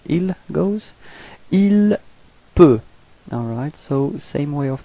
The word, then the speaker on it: peut: Il peut. Alright, so same way of pronunciation, you've got T at the end, but then you don't pronounce it.